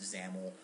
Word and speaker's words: XAML: zaml file xaml um xaml is a Microsoft uh file format it's uh pronounced zaml um it's it's a